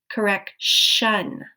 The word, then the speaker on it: correction: When we go from correct, listen to the ending, correct, right? So the base word sounds like with a T sound at the end, correct. But when we add ION, the sound changes, correction. The sound changes, but the spelling doesn't. So the base word still